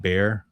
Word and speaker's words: Bexar: It's pronounced bear, like a bear, but those that aren't local, you probably hear him say Bexar.